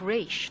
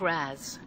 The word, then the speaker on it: Ra's: Father's name was pronounced Raish, not Raz. A common mistake.